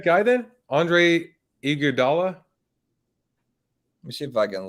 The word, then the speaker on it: Iguodala: Andre Iguodala.